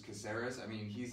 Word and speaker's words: Caceres: Alex Caceres. Caceres.